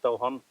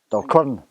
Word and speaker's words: Dalquharran: If I can't pronounce it, Ian. I think it's Dalquharran. Dalquharran.